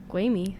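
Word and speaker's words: Gwilym: Brian May is Gwamy Lee. Gwamy. That's how you say it.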